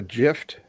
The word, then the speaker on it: GIF: It's GIF. and G's and J's are pronounced lots of different ways. Sometimes G, sometimes J. My brother's name is not named Jerry, it's Gary. But it's still GIF.